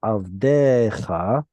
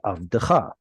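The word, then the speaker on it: עַבְדְּךָ: Be careful, everyone, when you're reading two shvas in a row like this, to never stress it. Instead of avdecha, that shva will not get stressed. It will be avdecha.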